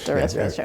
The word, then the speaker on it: Deresiewicz: There was a book that came out last year called Excellent Sheep by a man whose name I can't pronounce, William Deresiewicz? Deresiewicz, okay.